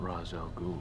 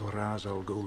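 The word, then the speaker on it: Ra's al Ghul: good thing for him am I pronouncing this right Mr Raz Al G no no uh oh you're not Raz Al ghou this Raz Al goul Immortal cheap parlot tricks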